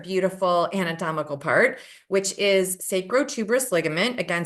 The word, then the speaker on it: sacrotuberous: And now I want to share with you another beautiful anatomical part, which is sacrotuberous ligament. Again, spell it phonetically. Sacro, S-A-C-R-O, tuberous, T-U-B-E-R-U-S, sacrotuberous ligament.